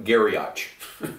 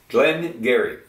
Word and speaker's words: Glen Garioch: know Glenn but it spilled g-a-r-i-o-c-h and it's pronounced Garrett some Dairy Gary not garyach garyott Glenn Gary and I kind of discovered these on my